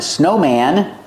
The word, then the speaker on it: snowman: Snowman and two snowmen when I have one snowman I pronounce the a snowman I cannot say one snowman you can say policeman firemen but not snowmen it's one snowman or you have one gentleman you don't say one gentleman you say one gentleman